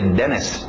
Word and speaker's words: dentist: Being Dentist Dentist Dentist pronúncia rápida de denst uma palavra conhecida todo mundo na hora de escutar D sabe o que é um DST evitamos os TS lembra então tira esse T Denis Denis Denis today Judge